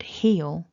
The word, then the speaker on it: he'll: you're hearing for example remember he will he will is two syllables but he'll is one so in that second